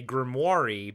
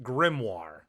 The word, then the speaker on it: grimoire: what is it Corey he pronounces it a grimmi but it's pronounced grimoire okay which is a book of ancient spells